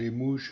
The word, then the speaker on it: Limoges: Ich weiß jetzt auch, wie das ausgesprochen wird. Das wird also Limoges gesprochen.